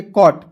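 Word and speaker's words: caught: तो इसे पढ़ेंगे कॉट। काउट नहीं पढ़ेंगे। ठीक है? सी का क ए यू है तो इसका उच्चारण औ के रूप में जी एस टी का उच्चारण ट के रूप में करते हैं।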